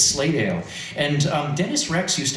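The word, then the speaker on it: Slatedale: County and you'll notice I pronounce that the way people pronounce it locally not slate Dale it's slay Dale and um Dennis Rex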